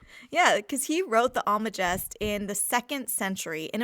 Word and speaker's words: Almagest: Yeah, I think the G is pronounced like a J here. I'm not sure, but I've always said it Almagest.